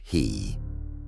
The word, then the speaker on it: ki: Shamans and elders speak of ki, pronounced he, which means wind or breath, but also signifies spirit.